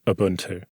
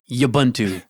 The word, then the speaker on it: Ubuntu: how to pronounce it there is no why at the beginning of Ubuntu he pronounces it like an Ewok Ubuntu yup job like steel